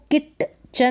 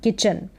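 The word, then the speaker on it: kitchen: तो किचन में देखें इसको किट चन ना पढ़ें किट चन के आई टी किट पढ़ दिया ये जो टी है ये साइलेंट रहेगा की और सी एच को च ई एन चन किचन फिर यहां है आई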